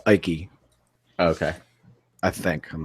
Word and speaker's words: Icke: I think it's pronounced Ike.